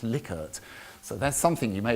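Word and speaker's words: Likert: the lier scale now some people say it's lyart I actually look this up it's actually pronounced liquor so that's something you may have learned today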